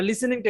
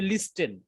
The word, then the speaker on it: listen: এই যে কিছু কিছু জায়গায় টি এর উচ্চারণটা হয় না, আমরা যেরকম দেখলাম যে লিসেন না, দেখলে মনে হবে লিস্টেন, তাই না? কিন্তু উচ্চারণটা হবে কি লিসেন।